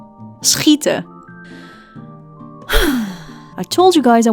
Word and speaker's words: schieten: We also have SCH, which is pronounced as a combination of an S and a G sound, like in the word schieten, schieten.